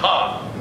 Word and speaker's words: Han: It's pronounced had. Says who? Lando Calrissian, that's who. Roll the security footage. That's too just to say had. See? Yeah, but that doesn't count. He's being choked by a Wookiee. You're right. Here he is, not being choked by a Wookiee. Come on, Dan, old buddy, don't let me down. Well, then Lando is wrong. It's pronounced Han.